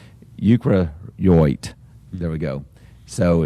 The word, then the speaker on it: eukaryote: It's called a eukaryocyte. So EUKARYOT. Excuse me, I mispronounced that. Eukaryote.